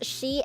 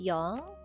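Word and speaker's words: 四: The reason, okay, four is she and yong, but we usually use yong and she actually means death. So we usually don't use that but it's additional information and we use it sometime as well.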